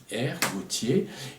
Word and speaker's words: Gaultier: Gautier, qui s'écrit Gaultier, Gautier.